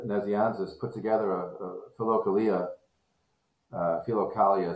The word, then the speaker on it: Philokalia: Philokalia is how it's said, but in Akenside we have this joke. We sort of say it with a southern philokalia of Origen.